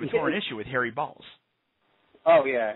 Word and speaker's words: Baals: was first elected mayor, he pronounced his name Bales. And immediately after the show, Harry actually called in and asked for him and said, no, son, my name is Balls, and so corrected him.